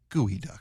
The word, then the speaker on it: geoduck: Gooey duck. I know you keep you I I got to love you. I read it phonetically. It's it's it's spelled geoduck, and I feel wrong saying a gooey duck.